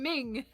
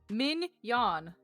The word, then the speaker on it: Mignon: You're saying ming min. That's how he says it. Minion. There's no G. The G is silent. Min yan min yan min yan min out of here.